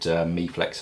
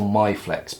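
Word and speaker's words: Miflex: Also, pop down in the questions whether you call it MeFlex or MyFlex, because I've always grown up calling it MyFlex because that's kind of how it's spelt. But if you call up the UK distributor, it's good morning MeFlex hoses, and I was like, okay.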